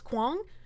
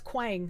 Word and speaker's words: Kwang: Miss Choi's ex-husband, Alex Kwang, 28, that's Kwang, I pronounced it wrong.